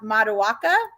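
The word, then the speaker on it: Matoaka: out with her i don't remember how to pronounce her name is it ma mata waka ma matawaka i think you're good right yeah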